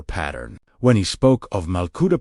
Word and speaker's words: Malkuta: Yet, Jesus quietly dismantled this entire pattern when he spoke of Malkuta, pronounced Malkut, meaning the living divine reign.